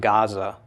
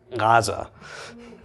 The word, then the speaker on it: Gaza: Strip in Israel okay Gaza is a very ancient name but it's not Gaza its Gaza okay so that'd be all